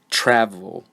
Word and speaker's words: travel: hit the beginning syllable this word has two syllables and the first syllable is the one that is stressed travel so I try to say that word there's a lot of air and sound coming out of my mouth for the beginning part of the word but for the second syllable I'm not trying very hard travel so you can